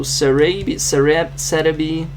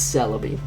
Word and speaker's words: Celebi: Thanks to Cerebi, it's Celebi, just Japanese pronunciation, for this list.